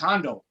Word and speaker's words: Hondo: oh my bad selena mine is pronounced hondo are you in edmonton